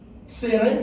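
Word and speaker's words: צֵירֵי: Tsere, would like to say it?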